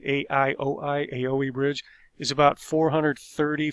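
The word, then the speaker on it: Aioi: of the aoe bridge i believe you pronounce it a ioi aoe bridge is about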